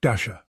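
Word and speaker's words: Dashjr: Knots is maintained by Luke Dasher. Yes, pronounced like Santa's reindeer.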